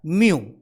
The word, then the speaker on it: mu: Micro is having a different symbol, that is a mu type symbol, that is called a mu. The pronunciation is a mu, okay, and the name is a micro.